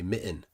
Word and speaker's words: mitten: te's but we don't we don't pronounce those t's we say Mitten seriously no T you hear that Mitten that's it so there